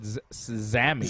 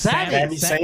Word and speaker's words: Sami: I think you said Zami. That's what I said. It's Sami with an S. That's what I said, man. Yeah. Zayn. Damn Sami it.